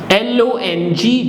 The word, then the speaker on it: long: Un is L-O-N-G, G will not be pronounced, so it becomes long.